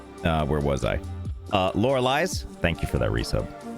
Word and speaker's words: Lorelei: belts yes good uh Lori Lee's Laura just Laura Lee's right lore Liz I hear other streamers pronounce it and I realize it's different than what I've been saying lorelei's oh